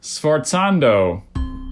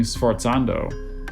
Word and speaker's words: sforzando: Sforzando.